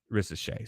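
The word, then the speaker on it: Risacher: ret now or R I know the r is silent he's French okay and and the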